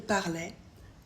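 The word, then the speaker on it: parlaient: Jamais on ne prononce le E-N-T à aucun temps. Du coup, on ne prononce que le son est. Il parlait, elle parlait.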